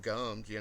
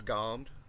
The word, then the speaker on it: gommed: And a lot of people these days pronounce it gummed, but it was always gommed.